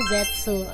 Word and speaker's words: Zeztz: Sebenarnya tulisannya tuh kayak Z E Z T gitu. Z gitu kayak Z gitu. Gimana bacanya? Tapi katanya cara bacanya itu adalah ZSu kayak gitu ya.